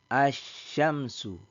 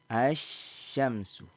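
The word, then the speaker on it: الشمس: ada nah dengan begini maka cara membacanya tidak lagi membunyikan Al ya tidak tidak lagi membunyikan Al tetapi langsung masuk pada huruf syin ya asyamsu asyamsu ya Nah ketika Al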